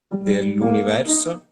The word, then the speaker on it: dell'universo: So de, just suave. Don't be, don't push it. Dell'universo.